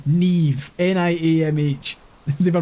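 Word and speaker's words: Niamh: mom looked her like what like we we pronounce it Naomi that's how they were pronouncing Neeve ni MH they were pronouncing it Naomi which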